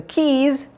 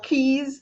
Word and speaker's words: Keez: little bit to get keys that k-e-e-z actually you know it's pronounced like keys to your home exactly was intentional quite